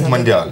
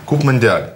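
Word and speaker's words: Coupe Mondiale: Куб Мондиаль, правильно. Как? Куб Мондиаль. По-французски. По-французски.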